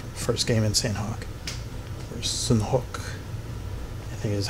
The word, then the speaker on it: Sanhok: Or Sanhok, I think is how it's properly pronounced.